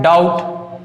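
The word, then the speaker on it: doubt: तीनों जो एग्जाम्पल दिए गए हैं यहाँ पर टी के पहले याद रखना है, अगर टी के पहले अगर बी आए तो बी क्या हो जाएगा? साइलेंट हो जाएगा।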